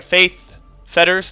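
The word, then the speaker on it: Faith's Fetters: Ideally, I get like a Faith Fetters.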